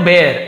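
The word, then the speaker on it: bear: हो गई unable to बेर अनेबल यानी असमर्थ होकर बेर यानी बियर नहीं पढ़ेंगे बेर पढ़ेंगे बेर या टेडी बेर टेडी बियर नहीं होता बियर तो य होता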